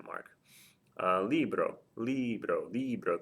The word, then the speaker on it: libro: Libro, libro, libro. The stress is over the I.